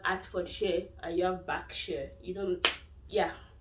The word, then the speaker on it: Berkshire: a lot of new students international students say berkshire it's not backshare the er is pronounced instead of air it's pronounced as ah so it's backshare for um for atford a lot of international